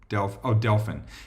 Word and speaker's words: Delphin: So anyway, so Saturday we get up, and the name of the gentleman was Delphin. I think I might be pronouncing that wrong. It's like Dolphin, but he was Delphin.